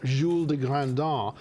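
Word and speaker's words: Jules de Grandin: um his hero is is a character named name Jules de grandon or pronounce himself je de grandon because he's French of course of course the most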